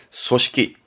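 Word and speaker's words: 組織: 조직, 무언가를 조직할 때 조직은 발음은 소시키.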